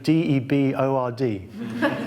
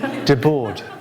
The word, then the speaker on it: Debord: How do you pronounce the name d-e-b-o-r-d, de board?" I said "Debord." "All right, Debord. Okay, good."